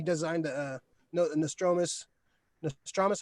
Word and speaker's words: Nostromo: uh he had his hand in a bunch of stuff and uh alien he designed the uh no the nostromos dramas how you pronounce it the nostromo nostromo yeah he designed